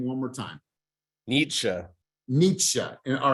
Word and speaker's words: Nietzsche: to say his name one more time Nietzsche Nietzsche and all right German right Nietzsche all right